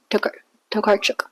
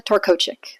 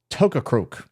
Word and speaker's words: Tokarczuk: And Drive Your Plow Over the Bones of the Dead by Olga Tokarczuk. Fuck. Tokarczuk. Tokakruk. Stay tuned and find out whether this year Jimmy can pronounce things correctly.